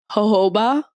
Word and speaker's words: jojoba: I feel like jojoba.